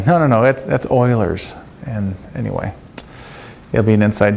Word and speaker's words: Euler's: now if you haven't had enough in terms of formulas I have another one for you it's called Euler's formula I know it looks like it's Euler's it's pronounced eulers it's one of those things that